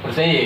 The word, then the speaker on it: Versailles: Bacanya apa sih? Versailles.